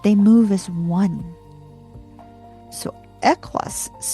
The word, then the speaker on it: Ehwaz: to be confused with Ehwaz e i h w a z, but Ehwaz kind of you you got to pronounce it kind of like ek, like echo, you know.